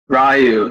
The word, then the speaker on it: Ryu: to some cosplay as I always pronounce the name wrong like ruie or are you Ryu Thank You Ryu from Street Fighter yeah